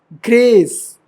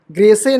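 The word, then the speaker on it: grace: नहीं पढ़ेंगे ट क्राइम ग्रेस य भी साइलेंट है ग्रेसे नहीं ग्रेस गूज एक्स डा डा डा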